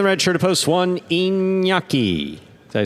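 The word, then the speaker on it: Iñaki: Serving in the red shirt of post one, inyaki.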